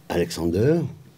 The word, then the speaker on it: Alexander: Ils auront comme enfant Alexander. C'est comme ça qu'on prononce, on lui donnait son prénom allemand.